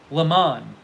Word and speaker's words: Le Mans: It says, dictionary, Le Mans. 24 hours at Le Mans. Le Mans. That's what the dictionary I just saw was.